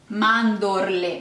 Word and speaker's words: mandorle: The most important ingredients, you need 200 grams of almonds, which in Italian are mandorle. Mandorle. Make sure you pronounce that R and L.